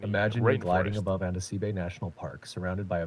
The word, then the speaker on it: Andasibe: How you pronounce it? I'm not above the national park of Andasibe. Sorry, Andasibe.